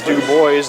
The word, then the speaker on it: Dubois: That is it is Dubois, the correct pronunciation.